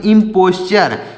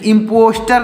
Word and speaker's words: imposture: IMPOSTURE तो इसको पढ़ेंगे इम्पोस्चर। इसको पढ़ा जाता है इम्पोस्चर। इसको पढ़ेंगे इम्पोस्चर। यहाँ पर च रहेगा तो हो जाएगा इम्पोस्चर, यानी इम्पोस्टर नहीं पढ़ेंगे।